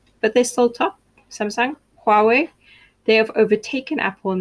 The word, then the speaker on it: Huawei: your samsung your huawei it's pronounced huawei not hawaii let's learn that now